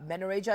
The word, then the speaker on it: menorrhagia: morning I just I just want you to pronounce this for me is it menia manoria manoria okay so it's it's uh manoria is the the the condition we're going to